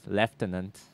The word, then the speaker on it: lieutenant: with his uh Talia's lieutenant or as they say in Britain leftenant sure I'm serious that's the actual like pronunciation you must run it